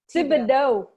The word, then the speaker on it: Thibodeau: Thibodeau with a hard T? Thibodeau.